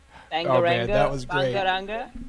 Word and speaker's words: Bangaranga: How does it pronounced? Bangaranga.